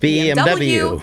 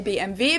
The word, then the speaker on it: BMW: english and in german in english people say bmw in german we say bmv because w is pronounced v in german and it stands for